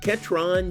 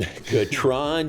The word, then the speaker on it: Ketron: On this week's episode, we're catching up with Baylor Football wide receiver Ketron.